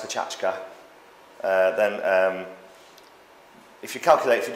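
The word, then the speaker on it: Pecha Kucha: Pronounced Pachachka.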